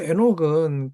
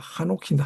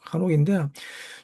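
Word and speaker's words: חנוך: 어 그런데 히브리어 에녹은 그런 말이 아닙니다. 에녹이란 발음 자치가 잘못됐습니다. 아 한옥인데 한옥 한옥인데 주님과 동행하다가 주님에게로 간 것이란 말입니다.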